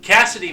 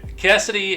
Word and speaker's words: Kasyddee: I mean, to me it says KCD. But given traditional naming and everything, Cassidy makes more sense. Anyway, Cassidy and Hunter were stranded